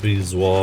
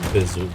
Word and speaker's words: bezoar: Sometimes pronounced bezoar or bezoar.